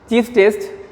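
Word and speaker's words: Schiff: What here, this indicate S is silent, Chief's test.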